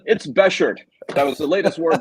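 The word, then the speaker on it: bashert: Yes, it's Beshert. That was the latest word that I learned off Curb Your Enthusiasm. So there you go. It's Beshert, but if you want to call it Beshert, that's fine.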